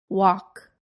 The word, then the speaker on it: walk: silent c muscle Connecticut the silent L walk talk the silent G design